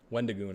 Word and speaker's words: Wendigoon: Wendigoon.